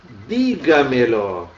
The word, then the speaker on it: dígamelo: A outra dígamelo. Olha aqui a sílaba tônica, aqui está o verbo nesse primeiro e aqui outros dois pronomes juntos.